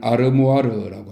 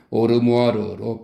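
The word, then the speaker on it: armoire: 그의 오르모아르, 이 오르모아르는 찬장을 뜻하는 단어인데 원래는 아르모아르라고 합니다. 근데 고리오 영감은 오르모아르로 발음하고 있다고 설명하고 있네요.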